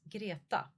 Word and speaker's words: Greta: But Greta in Swedish is girata.